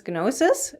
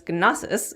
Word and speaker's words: Gnosis: approach and implanting noses I also say it without the G so for those out